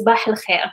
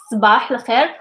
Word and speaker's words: صباح الخير: Sbah al khair. This is the emphatic sound s, it's not s. It's not s, it's s. S.